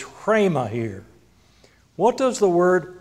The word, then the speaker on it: rhema: It's pronounced rhema, as if you were breathing the R.